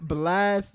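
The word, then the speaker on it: Blxst: Am I saying it right? Blixter Blast. It's got to be Blast, right? My bad. It's Yeah, you Blast, saying no, you saying it right, Blast.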